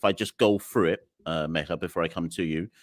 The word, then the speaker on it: Megha: It is Megha. It's not.